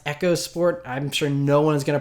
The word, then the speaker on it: EcoSport: Ford echos sport it's it's spelled EOS sport but apparently it's supposed to be pronounced Echo sport I'm sure no one's